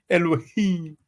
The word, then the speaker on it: Elohim: Now obviously it's Alahayim, but let's hear how they pronounce Elohim. Elohim.